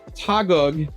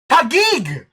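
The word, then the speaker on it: Taguig: Because here a day ago, the Tagog city uh police station posted criminal charges. Tag Tagig.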